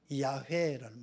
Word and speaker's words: 야훼: 이 영어 발음으로 여호와, 이제 이 히브리어는 야훼라는 말이에요. 야훼.